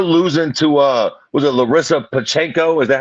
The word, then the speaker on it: Pacheco: Even though her losing to was it Larissa Pacheco? Is that how you pronounce her last name? Pacheco, yeah.